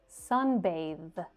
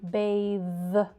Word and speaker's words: bathe: Bathe. Right? But this one is voiced.